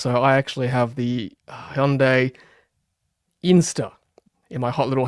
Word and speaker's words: Hyundai: I need to keep pronouncing this right. Hyundai.